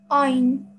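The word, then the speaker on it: ع: to pronounce it yes ein fine very nice from the middle of your throat very nice um okay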